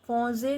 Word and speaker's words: penser: Penser means to think. So you know en sound, nasal sound en, penser.